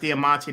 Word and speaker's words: Diamante: I think his name is pronounced Diamante, the white guy, the ring announcer that announces David Diamante.